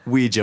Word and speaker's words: Ouija: oh a job or we know how to pronounce it properly Oh easy board you want to use a Ouija board that's right it has a Jay in it and then and then